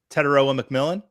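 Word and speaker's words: Tetairoa McMillan: Is it Emeka Ibuka, Teteroa McMillan, Quinshawn Judkins, or Cam Scattaboo? And yes, I pronounced all 4 of those names correct.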